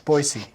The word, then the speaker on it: Boise: It's Boise.